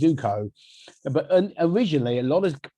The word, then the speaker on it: Zoco: And again, it's interesting that, because now everyone knows how to say it's Zoco, but originally a lot of how do you make Zoco, whatever, and it didn't matter to me then.